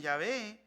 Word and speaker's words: Yahvé: Y es creídos que se que se pronuncian Yahvé y al producir en español es Yahvé.